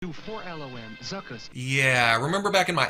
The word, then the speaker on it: Zuckus: So let's say it however we want to, but we can all agree that this is pronounced Zuckus. Hasbro. Zuckus.